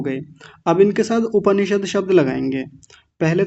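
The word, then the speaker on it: उपनिषद्: ज्यादातर लोग क्या बोलते हैं? उपनिषद। उपनिषद नहीं होता। उपनिषद जो आप बोल रहे हैं उसमें तो प आधा हो जाएगा। उपनिषद। उपनिषद शब्द गलत है। उपनिषद उप प को पूरा रखेंगे। उप निषद देखिए द पर हलंत होता है यहां पे तो उपनिषद ऐसा बोलेंगे।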